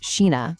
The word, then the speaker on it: Scheana: Sheena, whose name is pronounced Sheena by the way, even said she applauded Paige for leaving, pointing out that like no one walks away from these offers.